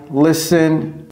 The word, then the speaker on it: listen: j'écoute la radio I listen abord ça la prononciation également très importante en anglais pas ce n Pasok c'est qui le T est silencieux et ça ce n'est